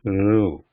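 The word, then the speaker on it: ऋ: in the alphabet is Ru. So how this is pronounced is, keep saying E, keep saying E, and then move that tip of the tongue towards the roof of the mouth.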